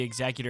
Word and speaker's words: Executor: I did have to teach a lot of people how to pronounce it. Oh, wait, am I saying it wrong? No, you are. Okay. Executor.